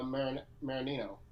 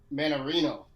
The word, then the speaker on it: Mannarino: have struth and uh maranino uh mannarino mandarin make sure you say his name right um so you